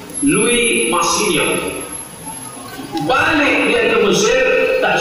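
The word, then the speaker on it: Louis Massignon: n masignon Luis masignon cara membacanya Luis Min bahasa Prancis bahasa yang tulisannya tak sama sama sekali jarang bacanya Louis masin balik dia ke Mesir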